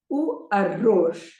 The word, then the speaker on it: arroz: We had already come across this word when we said it ends with a Z, so the stress is on the last syllable. O arroz.